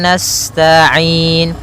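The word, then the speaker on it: نَسْتَعِين: Iya wa iyyaka nasta'in. sifat sinnya sempurnakan dengan mengalirkan nafasnya. Nasta'in. Kemudian pada lafal ain ada bacaan mad arid disukun, yaitu boleh memanjangkannya 2 harokat, 4 harokat ataupun 6 harokat.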